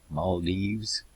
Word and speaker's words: Maldives: Maldives. I guess you got to pronounce it with the S.